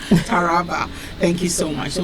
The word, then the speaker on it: Taraba: right forgive me taraba taraba thank you accent taraba thank you so much so we have 64